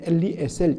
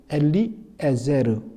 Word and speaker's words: 엘리에제르: 그런데 이 헬라어로 번역된 나사로의 히브리식 바로 발음은 엘리에젤, 우리 성경에는 엘리에셀 이렇게 되지만 정확히 엘리에제르 됩니다.